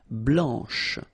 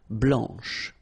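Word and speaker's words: blanche: final C and then blanch okay remember when you combine this C you get the sound sh blanch okay so BL blanch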